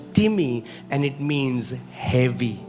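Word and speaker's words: τιμή: It's the spelling is like time, T-I-M-E, but it's pronounced as timi and it means heavy.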